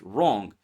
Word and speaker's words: wrong: Silent W appears before R. Words like right, wrist, wrong. Okay, just forget about W and say it without it and you will sound correctly. Words like rap.